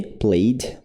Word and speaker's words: played: O pode ter som de d, só que não pronuncia o e. Played, played, played.